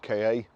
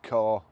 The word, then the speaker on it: Ka: Today I'm going to show you around our Ford Ka, or car, however you want to pronounce it or say it.